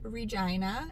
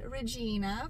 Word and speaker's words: Regina: with where we are and yes it is pronounced regina not regina for a lot of the american folks out